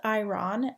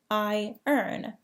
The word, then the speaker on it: iron: Iron is not pronounced iron, as you might expect. It sounds like I earn.